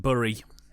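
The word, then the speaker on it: Bury: somewhere it's just called berry simple forwards the locals pronounce it burry they yes they do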